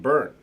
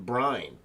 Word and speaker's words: Byrne: john byrne uh and you pronounce his name burn and i mentioned this before here but i you pronounce it burn but for the longest time i was calling him brian john bryan though it's